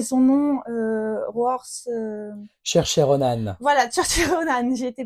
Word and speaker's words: Saoirse Ronan: Et il y a, alors j'arrive jamais à prononcer son nom, Roars. Saoirse Ronan.